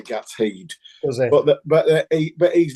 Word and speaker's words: Gateshead: if I'm wrong, but the correct perceived pronunciation in the northeast is Gatshead. Is that right? I've never heard that. But you've got the second part right. It's normally like Gateshead. Gatshead.